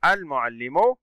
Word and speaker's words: المعلم: أحسنتم، المعلم اللام قمرية لأنها تنطق، وجود حرف الميم وهو من حروف اللام القمرية.